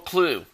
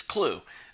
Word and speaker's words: Klugh: Earl Klugh. And I pronounced his name wrong the other day, calling him Klug, but it's Klugh.